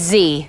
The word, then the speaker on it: Z: that way at school it's actually pronounced Z in America it's Z so it's Z instead